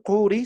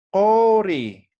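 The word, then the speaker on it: quri: Entonces, no vamos a decir Kuri, sino vamos a decir Kori, ¿no?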